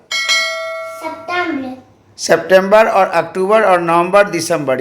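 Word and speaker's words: octobre: ई का उच्चारण नहीं है, केवल R तक का उच्चारण है.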